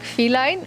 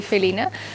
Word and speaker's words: Felina: my name is Felina you probably think you pronounce it like feline but here in Netherlands we say Felina f is my second